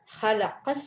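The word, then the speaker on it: خلق: அடுத்தது ஹலகஸ் ஸமாவாதி வல் அர்த, ஹலக இது ஹா உச்சரிக்கணும்.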